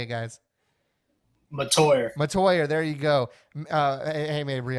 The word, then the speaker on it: Mettauer: Mettauer, there you go.